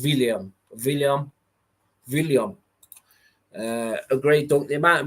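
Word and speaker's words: Willumsson: By the way, the Icelandic W is pronounced with a V. Okay, so it's William.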